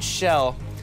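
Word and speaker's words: Chell: heroine's name is shell I'm going to pronounce it shell cuz it's very European spelling of the name and I think a European pronunciation of it would be shell boom what was that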